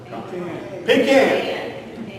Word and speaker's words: pecan: beauty is a ballpark pecan or as they pronounce it in georgia pecan pecan pie pecan pie